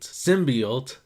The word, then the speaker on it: symbiote: trailer with a crash site of the symbiote symbiote that's how you say it you understand why